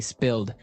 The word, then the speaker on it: spilled: Okay, spilled. Now, it's pronounced differently from spell, right? That's right, It has spill. an I, spilled.